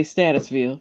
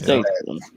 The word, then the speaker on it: Statesville: The GPS will say Statusville, but yeah. Is that what it says? GPS will fuck it up every time, that's all. Oh, okay. I about to damn, I pronounced it wrong. It's Statesville.